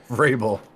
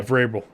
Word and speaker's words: Vrabel: Vrabel. Yeah, Vrabel.